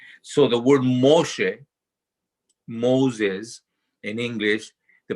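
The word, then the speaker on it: משה: the name of uh moses right that's pronounced moshe um and i'm in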